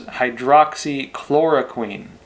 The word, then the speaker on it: hydroxychloroquine: Of course, hydroxychloroquine, which some of you pointed out I pronounced wrong before, so thank you all.